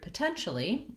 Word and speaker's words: potentially: One thing to note about the word potentially is that it has second syllable stress. That means the 10 syllable is long and has a clear vowel, and some of the other syllables have reduced vowels and are much shorter in duration.